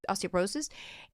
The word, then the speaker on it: osteoporosis: heart high risk of osteoporosis osteoporosis is that what it is yeah did I say it right yeah osteoporosis and what do doctors